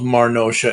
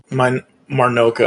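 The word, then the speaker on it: Marnocha: I love Marnosha as Megatron. Yeah, I was a fan too. Marnoka, I think, is how he actually pronounces it, because I saw a video with him recently about it.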